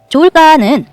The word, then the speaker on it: 좋을까: 써서 어떡 게라고 써요 좋을까 좋을까 하고 받침이 없는 것처럼 말하게 되는데요 받침 히은 뒤에 그